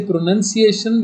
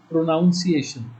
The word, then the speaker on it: pronunciation: When we say pronunciation, we don't say pronunciation, we say pronunciation.